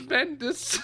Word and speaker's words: Bendis: You thought his name was Benis. It's Bendis.